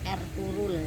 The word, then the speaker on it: Ertuğrul: Ertugrul Gazi, atau kalau dalam bahasa Turki pengucapannya menjadi Ertuğrul ya, G-nya tidak dibaca.